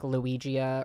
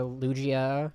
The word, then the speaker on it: Lugia: Well, that's like when I was streaming a little while ago and I was pronouncing everything wrong on purpose. It was like Luigia or Lugia, like Arcanine, Lugia.